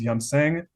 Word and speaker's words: Yumseng: Anyways, pretty much, like I mentioned, the name of the place is Yumseng, YUM space SENG. Hopefully, I'm pronouncing that correctly.